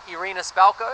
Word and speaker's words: Irina Spalko: And at the start of the film, he gets kidnapped by Russian forces led by Kate Blanchett's Irina Spalko, have I pronounced that correctly?